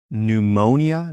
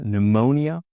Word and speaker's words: pneumonia: Silent p. If you speak Greek, you'll know this from words like psychology, psychology, psychiatrist, psychiatrist, pneumonia, pneumonia.